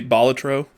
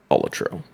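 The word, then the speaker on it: Balatro: I also I like to say Bolatro because I think that's actually correct. I think that is the right way to say it. Yeah, I think it's Bolatro.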